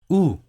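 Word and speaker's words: où: this is how you say we're in French ooh ooh oh right II have two letters but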